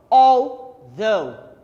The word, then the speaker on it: although: Você escreve altauget e lê como although.